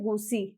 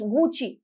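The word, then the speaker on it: Gucci: हम साउंड करते हैं घुसी इट्स नॉट गो सी इट इस गूची गूची गूची इस डी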